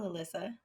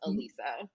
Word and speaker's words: Alyssa: meet you as well alyssa oh uh my name is it's spelt like alyssa but it's pronounced elisa alisa my apologies oh it's